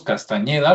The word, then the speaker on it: Castañeda: Carlos Castañeda, lo voy a pronunciar con ñ, parece ser que él